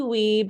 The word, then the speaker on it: Wiebe: I had to ask her how to pronounce her name because I've been saying it wrong in my head this whole time. And so Annie Weeb is coming and going